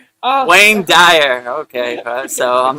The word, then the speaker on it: Wayne Dyer: heard Dwayne Dwire. Wayne Dyer.